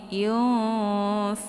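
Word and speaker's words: ينفقون: Saat bertemu dengan huruf 'fa', yang merupakan huruf ikhfa, huruf tersebut dibaca secara samar-samar. Suara 'biarawati' tersebut tidak terdengar jelas di sini; Tidak jelas. 'Yung', sehingga bunyi 'nun' menjadi kabur, bersiap memasuki huruf 'fa'.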